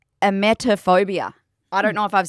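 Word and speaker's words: emetophobia: this phobia or this disorder, but it's called a metaphobia. I don't know if I've said that wrong. It's spelled E M E T O phobia.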